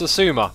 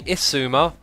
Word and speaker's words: Xisuma: Ryman says, X, how do you pronounce Asuma? Like that, apparently. You can also say Isuma, or Xzuma, or Zzuma, or Shishwami, Shishwam Bam.